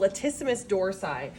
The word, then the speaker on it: latissimus dorsi: with the muscle called latissimus dorsi lat rhymes with flat it's a wide flat